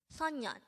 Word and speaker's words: 소년: we are going to study about the word sonyan let's start learn korean one word at the